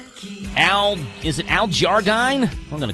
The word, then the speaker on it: Jardine: Al Jarine from the Beach Boys. I'm sure I'm pronouncing that last name wrong. I guarantee you it's Al Jardine, but I didn't have enough time to ask Rick.